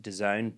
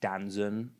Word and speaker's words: DAZN: is the sports streaming company, or it's pronounced DAZN, but most people think it's called like Danzon.